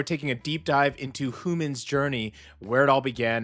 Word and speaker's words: HU:MIN: And that's exactly who our artist is today, and this is Human. And the way they spell it is super fun. It's like Human. It's not to be confused with human, all right?